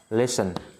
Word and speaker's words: listen: Listen. Rồi, viết ra bên sau. Listen to me. Rồi, listen. SL đọc là sần nha các bạn. Rồi. Listen. Biến âm cái đầu lên listen, động từ lắng nghe.